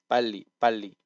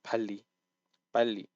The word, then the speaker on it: 빨리: up quite quick, because it's just literally tensing it, and I can't explain how to do it other than like the word is tense. So just take the word to my tense. So 빨리, not 빨리. So it needs to be like tensed up.